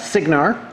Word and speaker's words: Cygnar: In fact, let me give you the proper pronouncements. It's Cygnar, Cawdor, Crix, give you more details here in a minute, Crix, Menoth.